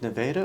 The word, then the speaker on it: Nevada: the state is and everyone in the US says Nevada right yeah and that's how I pronounced it at first and I was corrected and I was like okay it's Neva yes maybe someone else